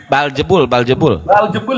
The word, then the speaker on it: Beelzebul: Baljebul ya bacanya.